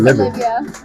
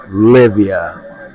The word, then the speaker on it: Lyvia: Her name is spelled Lyvia. You want to spell it for him too? Yeah. Alright, it's kind of like if you go Olivia minus the O. So it's Lyvia.